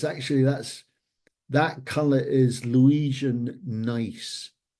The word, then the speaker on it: gneiss: It's actually, that color is Louisian gneiss. Gneiss spelt with a G, which is probably the oldest rock on the planet.